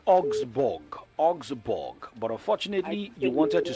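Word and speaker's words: Augsburg: Augsborg.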